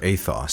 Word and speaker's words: ethos: And the Odyssey is about ethos, or athos, to use the Greek pronunciation.